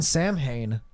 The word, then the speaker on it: Samhain: Sam Hain is a yes.